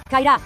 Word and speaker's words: kind of: Sua pronúncia é kairá. Repita comigo, kairá.